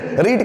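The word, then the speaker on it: read: रीड ही होता है, कहीं कहीं उसका प्रोनाउंसिएशन रेड भी दिया होता है, सो you should have रीड religious book या you should have रेड religious book. दो तरह के प्रोनाउंसिएशन है, रीड या फिर रीड रेड, ऐसे दोनों तरह के प्रोनाउंसिएशन चलते हैं।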